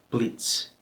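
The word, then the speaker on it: bliț: And the T with the little dash under it, ts. It's like a TS sound. Blitz, blitz, a flash.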